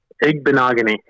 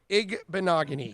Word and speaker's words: Igbinoghene: So first of all, how do you pronounce Noah's last name again? Igbinoghene. Igbinoghene.